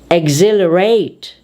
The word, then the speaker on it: exhilarate: And the third part of our pronunciation of X is when EX is followed by H. H is silent. It is dropped. Therefore, we say exhaust, exhaust, exhale, exhibit, exhilarate, exhume.